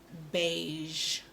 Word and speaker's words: beige: voice on Shh and those letters are Z and H you won't really see this in a word in terms of as Ian and H but you hear it at the end of a word like beige yeah it doesn't come